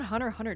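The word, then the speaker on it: Hunter × Hunter: you if you write if you write down Hunter Hunter Don't are you you're supposed to write the X in between but not say it right yeah episode 4 freaking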